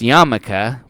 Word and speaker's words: yarmulke: It's a yarmulke. Well, it's a nipple cover. It would act as that, and then we're gonna get into it. It is actually pronounced yarmulke, but anyways, here, put this on.